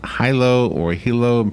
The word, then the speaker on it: Hilo: It is Hilo, even though it looks kind of like Hilo, but it's pronounced Hilo.